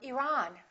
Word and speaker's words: Iran: at the next one did you say Iran or Iran it should be the second one he's from Iran he's from Iran let's